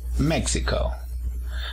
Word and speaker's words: México: segunda sílaba méxico méxico/la el acento en la primera sílaba méxico luego tenemos la nacionalidad